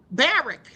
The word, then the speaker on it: Barak: Barrack, not Barack. It's like Barrack.